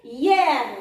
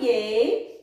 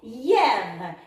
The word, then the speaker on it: hier: Mais cette fois, le I-E-R se prononce hier. Ne se prononce pas yé, elle se prononce hier.